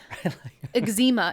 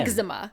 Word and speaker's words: eczema: Eczema is supposed to be pronounced Again. eczema.